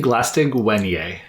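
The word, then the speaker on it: Glaistig Uaine: Glastigwine? How do you say that? I say Glastigwenye. Wenye, thank you.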